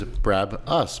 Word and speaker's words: Brabus: However, he kept correcting my pronunciation of Brabus. I always thought it was Brab-us, but he kept saying Brabus.